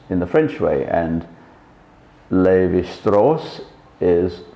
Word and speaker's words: Levi-Strauss: So Mauss, for example, M-A-U-S-S, would be mouse in German, but it's pronounced Mauss in the French way, and Levi-Strauss is pronounced in the French way.